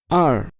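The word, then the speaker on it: 二: remember try to remember r yes this is fourth tone r are maybe a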